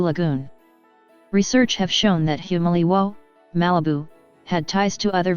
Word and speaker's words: Humaliwo: americans named the settlement humaliwo or the surf sounds loudly the city's name derives from this as the who syllable is not stressed the village of humaliwa was located next to